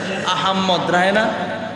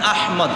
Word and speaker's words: আহমদ: অনেকে দেখবেন নামের সাথে রাহে আহাম্মদ। কবিরা আহম্মদ কোভিদ আহম্মদ এর আহমদ হবে না হবে আহমদ বলেন আহমদ বলেন না মহব্বত করে নবীজির নাম এই হিসাবে বলেন সঠিক উচ্চারণ আহমদ কত বিশ্রি ব্যাপার নাম